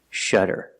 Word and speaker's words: shudder: You see the letter U before a double consonant, it makes a short sound, That's a relaxed, closed sound, shudder. And the double D makes a fast D sound, shudder, shudder. And the ER at the end makes the sound, like burger, Together, shudder.